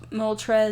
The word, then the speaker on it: Moltres: I'm trying to catch Moltres.